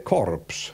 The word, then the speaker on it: corps: pensate all'inglese ad esempio cadavere in inglese si scrive Corps no si legge senza la s no che muta E questo ci ricorda